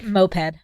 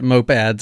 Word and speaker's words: moped: a running list yeah moped moped no I've been saying it wrong my entire life NOP Ed have you ever heard me say it before I'm sure I I'm am certain we have used the word in one of our 600 episodes before I even know how to spell it I know how to spell it with an E I just thought it was mopads I don't know then